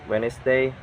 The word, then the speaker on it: Wednesday: the D letters like so you can read like Wes day handsome and sandwich and the can be